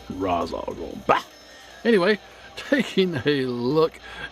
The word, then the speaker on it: Ra's al Ghul: That's how they pronounced it in Batman the Animated Series, and that is how I will always pronounce it. Ra's al Ghul. Ra's al Ghul.